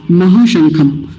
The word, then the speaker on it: महाशंख: हो गया था हा महाशंख महाशंख में महा शब्द तो आसान है अगला शब्द वही हिंदी वाला शंख समझ लीजिए बस ऐसे शंख लेकिन यह